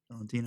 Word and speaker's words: Valentina: Valentina.